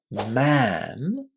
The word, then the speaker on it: man: So man, one person is pronounced with the sound that's similar to a long r. Man. Man. It's the same sound that we've got in the words bad or dad.